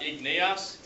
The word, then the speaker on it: igneous: Igneous. Igneous, good. It's not igneous, it's just igneous, so we flow through it.